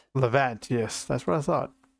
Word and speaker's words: Levant: Because I've wanted to lavant. Oh, that's what I typed. Leavant. Levant.